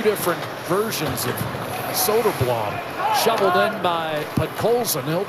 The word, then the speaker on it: Soderblom: Soderblom's older brother is the goaltender for Chicago. His name is Arvid, and he pronounces it Soderblom, but this is Soderblom.